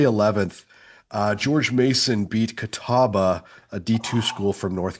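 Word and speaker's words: Catawba: On Tuesday 11th, uh George Mason beat Kataba, a D2 school from North Carolina. That's how you say it. I thought it was Cabo Labo.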